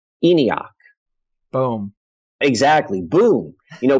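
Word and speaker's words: ENIAC: or something like that but it is pronounced in iakh boom exactly boom you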